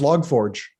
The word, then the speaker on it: log4j: thing here you go no no no it's log forge vlog log forge pete has uh why